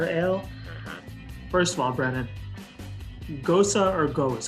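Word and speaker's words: Gose: mixed berries sour ale first of all Brandon Gosa or goes how do we pronounce this it's pronounced it's pronounced Goza for the official style but we actually just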